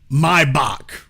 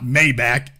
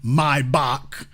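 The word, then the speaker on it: Maybach: from sound like audio mybach Rick Ross the rapper not the drug dealer has forever messed that up it's not mayback the man's name was vilim mybach the CH is pronounced like a k so anyway anemology lesson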